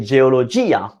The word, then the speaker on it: geologia: But there are words when it's actually the diphthong, I can't pronounce it, it's broken, and we say geologia.